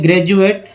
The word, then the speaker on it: graduate: जी हाँ, तो GRADUATE word है ग्रेजुएट, तो डी को यहाँ ज ही पढ़ते हैं, ग्रेजुअल, डी को ज ही पढ़ा जाता है।